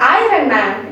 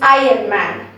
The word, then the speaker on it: iron: so think like that whenever you see iron written somewhere you think of that okay you are earning so you bring it over here and you bring i uh here when you say it like that you don't even remember of r over there you just say it as higher for kids i'd like